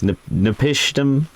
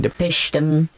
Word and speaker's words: Napishtim: Every time I see the name, it looks like it says Ark of Nepotism, and I know it doesn't say that. It's Napishtim. I guess that's how you pronounce it.